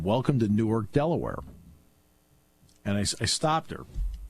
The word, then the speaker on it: Newark: I said, yeah, it's pronounced Newark. That's Delaware.